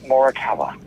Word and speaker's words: Morikawa: Give me Morikawa. Ooh, you pronounced it correctly, did.